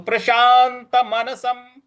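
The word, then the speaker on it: प्रशान्तमनसम्: है तो प्रशांत प्रशांत मनसम जो स के ऊपर अनुस्वार है उसके आगे ह लिखा हुआ है तो यहां उच्चारण इसका म होगा तो प्रशांत मनसम प्रशांत मनसम इसके बाद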